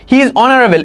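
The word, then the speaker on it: honorable: এর উচ্চারণ যেহেতু এর মত হইছে অন। তোমরা কিন্তু সেই অনেস্ট বা তোমার সেই আওয়ারের যে আমরা যে কথাটা প্রথমে আমি এক্সাম্পল দিলাম ওইটা অনুযায়ী এন বসাবা কিন্তু এখানে এন তুমি বসাইতে পারবা না।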